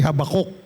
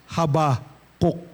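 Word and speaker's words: Habakkuk: By the way, hindi Habakok ang pag-pronounce. Haba cook.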